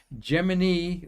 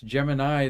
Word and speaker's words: Gemini: what NASA used and they called it Gemini like Jiminy Cricket it's Gemini the constellation but either